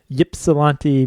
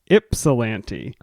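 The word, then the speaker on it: Ypsilanti: last week came from that place what I pronounced as Yip salant Michigan Yip solante I was wrong we put out a call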